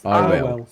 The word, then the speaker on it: Arwell: I keep saying her name wrong anyway. What is it? It's Arwell.